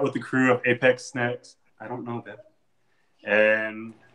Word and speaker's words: Apex Sneks: Snakes or Sneks? Sneks. Just roll with it. It's Apex Sneks. Yeah, some people it's try almost to like snacks. Yeah, exactly. Well, some people try to overpronunciate it, and they're like snakes, and I'm like, no, we're not British.